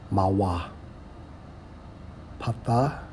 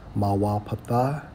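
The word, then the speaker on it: מוֹפֵת: It's Strong's H4159 pronounced as Mawa Patha. Mawa Patha, which means what?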